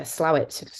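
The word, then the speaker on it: Slaithwaite: the Lesser known uh slawit looks like s weight when it's spelled um who have been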